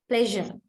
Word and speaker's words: pleasure: word now this one the last part of of course the pleasure pleasure right it is azure not sure pleasure pleasure so there is